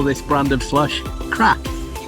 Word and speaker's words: Krap: So in Iceland they call this brand of slush crap. It's an awful crap. Yeah, so it's an icy crap. Yeah. Spelt with a K.